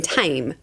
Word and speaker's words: Thame: We found this pub. It's in Tame. Tame is spelt the same as the Thames. Okay. So you would think that they'll be close, and the Thames runs through London.